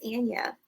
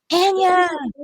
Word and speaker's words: Anaya: My name is Anaya. Anaya.